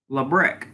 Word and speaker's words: Labrecque: dude Greg out and Labrecque ah ok lebryk that's how you pronounce it interesting I didn't you